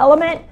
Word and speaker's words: LMNT: if you want a link to element this is also put l it's spelled lmnt put it in the